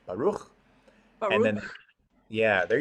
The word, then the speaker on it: Baruch: So our first word, Baruch, has a ch, sort of a hard H sound, almost a KH, Baruch.